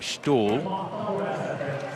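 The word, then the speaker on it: Ståhl: it's spelt style but apparently in the local lingo you do pronounce his name stall and his open up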